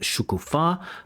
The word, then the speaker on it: Shukufa: This one is with Shukufa, stress on the last syllable, who's in Belarus.